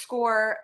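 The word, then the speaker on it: Scoir: last couple years again it's pronounced score your students will be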